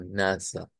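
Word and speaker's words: Nase: s e y que en alemán pues se escribe con a y se pronuncia como NASA eh recordar que en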